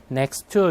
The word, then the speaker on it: next to: 네, next to 아니라 tt 있으니까 앞에 t 발음 안 하고 next to 이렇게 하셨죠.